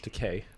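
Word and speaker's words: Takei: the aspect of yeah George teai is George teay rhymes with gay yes I I I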